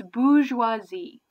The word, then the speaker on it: bourgeoisie: gonna use the word bourgeoisie okay and it's spell it's got like an extra R in there I bet you don't actually pronounce so it's bourgeoisie hey boo schwa z